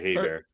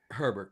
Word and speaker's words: Herbert: I'm glad that Herbert, is that how you say his name? I always want to say Hey, Bear. Herbert.